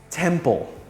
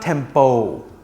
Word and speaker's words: temple: pronounced as m-i-n salmon temple temple temple thailand has many temples please dress appropriately when visiting a temple it's not tempo try saying these words